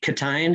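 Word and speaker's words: Ctein: co-writers how you worked with uh was it catin is that how you say his name yes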